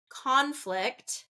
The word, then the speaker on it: conflict: how about this one conflict conflict spelled the same but two different meanings because of the stress so I don't want